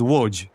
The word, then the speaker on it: Łódź: Yeah, Łódź is pronounced Łódź. It's because that's not actually L, it's a Polish letter, Eł.